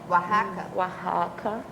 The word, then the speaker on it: Oaxaca: O Oaxaca, que é um povo no... Oaxaca. Agora, eu já estive nessa cidade, por isso que eu sei a pronúncia.